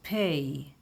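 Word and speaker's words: פ: pronounce it like Alf the next letter is pay p p the sound of p p but sometimes the sound of f so pay like Pennsyvania Posh pull play there is also a pay sopit a final pay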